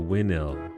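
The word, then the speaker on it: Winhill: Then you changed after you went to win ill. The H is silent.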